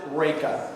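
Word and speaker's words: Reyka: You pronounce it Reka.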